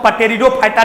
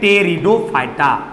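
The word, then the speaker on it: Pteridophyta: देखिए पी से स्टार्ट हुआ है, इसका मतलब इसको पटेरिडोफाइटा ने पढ़िएगा, पी साइलेंट रहता है। ये आपका है टेरिडोफाइटा।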